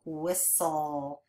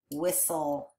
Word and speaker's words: whistle: a final stable syllable whistle even though that T is kind of silent isn't it we don't really hear that T in there whistle okay our next word